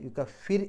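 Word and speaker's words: يكفر: യുക്കഫിർ അൻഹു, യുക്കഫിർ, അവിടെ റാഇന് സുക്കൂന് തൊട്ട് മുമ്പുള്ള അക്ഷരം കസ്റാണ്, ശേഷം ഇസ്ലാഹിൻ്റെ അക്ഷരങ്ങൾ വന്നിട്ടില്ല, അതുകൊണ്ട് തന്നെ യുക്കഫിർ എന്ന് പറയാം, യുക്കഫിർ എന്നുള്ളതിനേക്കാൾ യുക്കഫിർ എന്ന് പറയാം.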